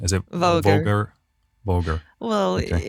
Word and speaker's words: Voger: Called, what's the right pronunciation? Is it Voger? Voger.